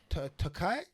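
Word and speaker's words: Turkalj: And another quick one, we had Tyson Pedro versus Anton Takao Silent J. with a silent J.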